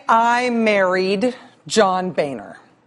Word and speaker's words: Boehner: an M but rather Rachel an Boehner it's pronounced Boehner uh the state of Texas for a long